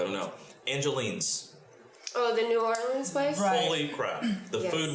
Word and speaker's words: New Orleans: orleans so and and i'm teaching zachary how to say it correctly i mean it's new orleans yeah it's new orleans and so um yeah